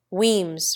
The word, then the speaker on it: Wemyss: John, Poole for Powell, Weems for Wemyss, Cadogan for Cadogan, Mowbray for Marlborough, Key for